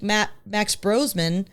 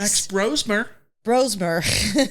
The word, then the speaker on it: Max Brosmer: On the flip side, USC will win if they make Max Brosman pay for his mistakes. Max Brosmer. I'm getting his name wrong.